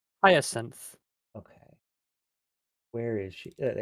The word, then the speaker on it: Hyacinth: Hyacinth.